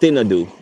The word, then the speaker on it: Thinadhoo: males on a local Island yes it's called thadu that's how it's spelled t h i n a d h